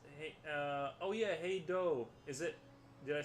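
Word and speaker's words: Hej då: Carolina says, "Hey, oh yeah, hey Doe. Is it? Did I say that right? Hey Doe. Everyone on this side. I think it was hey Doe pronounced. The pronunciation in Swedish.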